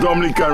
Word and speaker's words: Dominica: we call it Dominica foreign it is not Dominican Republic it is pronounced Dominica and is situated between Guadalupe and